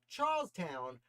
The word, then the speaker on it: Charlestown: What happened in Charlestown, Massachusetts? I will pronounce it as it's spelled, not Charleston.